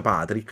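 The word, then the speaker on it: Pádraic: tra i due protagonisti Patrick che però è scritto non Patrick come professoressa iscritto alla irlandese che è Pad Drake scritto però si pronuncia Patrick a quanto pare e colm perché Perché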